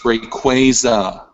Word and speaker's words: Rayquaza: It's Rayquaza.